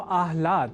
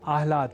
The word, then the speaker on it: आह्लाद: अर्थात आह्लाद को आल्हाद इस स्वरूप में ना समझकर या न लिखकर हम आह्लाद अर्थात पहले ह और बाद में ल इस अक्षर विन्यास से युक्त शब्द आह्लाद का ही लेखन और तदनुसार शुद्ध उच्चारण करेंगे।